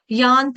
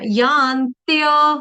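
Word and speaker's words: यान्त्य: यांत नहीं है यांत्य य यज्ञ का वो तो आप खा रहे हो य यज्ञ का तो बोल नहीं रहे आप लोग आप लोग गा रहे हो ततो यांत धमांगति ये गलत है ततो यांत्य धमांगतिम ततो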